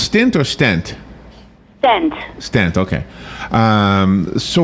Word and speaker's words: stent: it does and I know you talk about stints in the book or it's pronounced stint or stent stent stent okay um so what what do